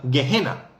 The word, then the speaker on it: Gehena: Es una palabra que se pronunciaría gejena. Gehena en griego, cuando tradujeron